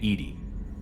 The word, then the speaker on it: EDI: Why are you named Edy? ED is the phonetic pronunciation of EDI. That is an acronym for enhanced defense intelligence.